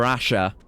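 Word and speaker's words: RAXA: Uh, Metal Gear Rasha. I've learned that was how it's pronounced, but it looks like it's, you know, Metal Gear Rex. Um, apparently it's Portuguese or a Japanese Portuguese loan word.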